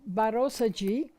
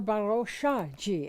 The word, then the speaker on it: Barosha: Now, the second one was Barosa Adhikari, whom many people call Barosaji or Baroshaji. In Nepali, her name is Barosha, and most English-speaking people pronounce it as Barosa.